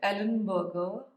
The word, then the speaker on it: Ellenberger: these two phenomenal people Henry Frederick Ellenberger I try to pronounce it like Burger uh also please read